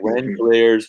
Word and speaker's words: Langeliers: Langeliers was the second catcher taken, and the scouting